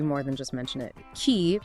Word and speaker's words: qi: Key which is pronouncedqi is the fundamental organizing principle of life in TCM.